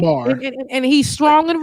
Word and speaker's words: Myanmar: He said minimum. He didn't even get it right, Myanmar. and he's strong and wrong. He said Probably enema.